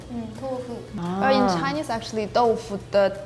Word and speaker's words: 豆腐: 豆腐. One syllable?